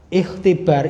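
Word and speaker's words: اختبار: Ikhtibar itu kalau berdiri sendiri bacanya ikhtibar. Ikhtibar. Lah, ikhtibar hamzahnya itu namanya hamzah wasal. Hamzahnya hamzah wasal, maka ketika seperti ini dibacanya nyambung. Matah tiba rukunna. Matah tiba rukunna. Hamzah wasalnya tidak terbaca, dilewati aja.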